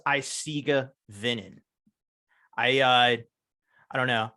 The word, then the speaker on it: Eisige Venen: Curtis from a site iciga venen doing vocals gotcha so it is isiga vinnin I uh I don't